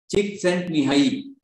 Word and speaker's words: Csikszentmihalyi: So apparently it is pronounced as Csikszentmihalyi, which is very difficult to pronounce, but the